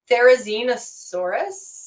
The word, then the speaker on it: Therizinosaurus: Therizinosaurus? Yeah, you pronounce that awesomely.